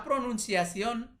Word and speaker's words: pronunciación: Pronunciación berarti ditekankan di sini.